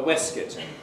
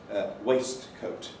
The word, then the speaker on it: waistcoat: At one time you used to have this item of clothing, a waistcoat. And this was the 19th century pronunciation of the word. Nowadays, everybody says waistcoat. Reversion to spelling pronunciation, and my colleague Jack